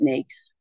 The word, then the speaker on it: NAICS: It's NAICS, but we pronounce it NAICS.